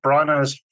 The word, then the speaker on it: Branagh: in Venice it's the third go-around for Kenneth brana's um yes that's how you say it so